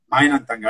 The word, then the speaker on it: Mind And Tangle: Mind and Tangle.